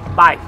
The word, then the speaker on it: Vib3es: Y en este ladito tenemos Vives, en la calle Juan de Zoya, que se llama Burger Vives, que más reñido como se pronuncia es Vives, ¿vale?